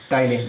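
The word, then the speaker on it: ptyalin: देखो टाइलेन, इसमें क्या होता है, जैसे इसमें पीट साइलेंट होता है टाइलेन।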